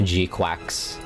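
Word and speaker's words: GQuuuuuuX: Yeah, it's supposed to be pronounced Gquax like a duck.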